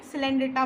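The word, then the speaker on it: Coelenterata: मैंने इसको क्या प्रोनाउंस किया था? कॉलिनेटा। क्यों? क्योंकि वो हमारी ट्रिक थी, बट इसको क्या बोलते हैं रियल में? सिलेंड्रेटा बोलते हैं।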